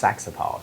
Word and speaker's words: Saxapahaw: I went to this place called, it's spelled Saxapahaw, but I think it's just Saxapaw is the way you say it.